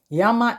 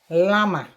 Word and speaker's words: llama: it's been written down yama is llama you just say you think it's lama as against yama and by the way